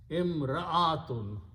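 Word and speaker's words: امرأة: And this alif is hamza actually. Imra'atun. So you have to pronounce ra and hamza separately.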